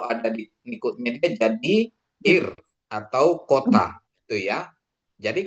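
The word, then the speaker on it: עיר: Jadi kalau dia ada tulisannya ini ayin, iod, R, res. Dia jadi bacanya R atau ir. Menjadi ir.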